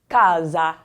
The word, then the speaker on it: casa: Okay, the next word here, casa, casa. We'll talk about the S to come, but it is pronounced more like a Z in this word, casa.